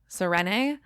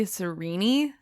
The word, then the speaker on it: Serene: we say her name when i was reading it i was saying serrene i believe from brandon it's supposed to be cerini oh okay i am